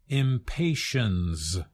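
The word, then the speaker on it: impatiens: that has to be impatience it is pronounced impatience with a z sound that's because it comes directly from another language Latin but as our listeners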